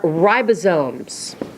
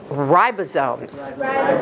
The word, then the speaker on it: ribosomes: not phonetic these are ribosomes and it's a long I everybody say ribosomes it is not ribosomes okay its ribosomes and I know it's not spelled like ribosomes and I'll be honest